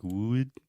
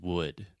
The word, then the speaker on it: would: this crazy pronunciation like would, but it's just would. So this is the other U sound, and it's just the sound, like push, should, could, look, book, would, etc.